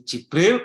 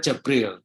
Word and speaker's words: Jibril: kepada kami affania jadi Jibril Kemudian yang kedua jabril dengan fathah Jin Ibnu Katsir ini